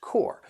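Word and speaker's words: corps: as the pronunciation core which is why you don't hear the p and the S so if we're talking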